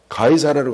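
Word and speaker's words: 가이사랴: 어 그래 가인사라 가사라는 시저라는 뜻이에요. 시저라는 그 발음이 유럽식 발음이 가이사라예요.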